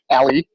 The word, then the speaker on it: A11y: Christina: Did I pronounce A11y right there, its spelt a bit oddly isn't it? Adem: it's actually "alley", but close enough, enough a11y, the 11 being